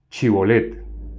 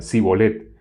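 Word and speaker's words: Shibolet: Entonces le decían, ahora pues di Chibolet. Y él decía Sibolet, porque no podía pronunciarlo correctamente.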